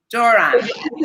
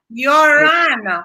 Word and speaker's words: Joran: Joran. Hey, but it's pronounced with a Y. No, it's like why. Yoran.